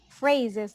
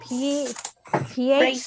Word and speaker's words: phrases: Phrases like with an F, Phrases. PH Phrases. change it to an F, okay?